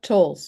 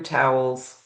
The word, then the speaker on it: Towles: It's It's Tolls It's a Scottish name, so it's a silent W.